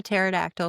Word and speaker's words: pterodactyl: Why can't you hear a pterodactyl go to the bathroom? Why can't you hear a pterodactyl go to the bathroom? The P is silent.